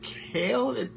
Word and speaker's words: Kail: maybe guys it's Alex lamir guys it's Tommy kale kale is that how you pronounce it that is how you pronounce it